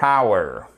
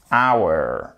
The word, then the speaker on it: hour: Hour. Le H ne se prononce pas, c'est une exception.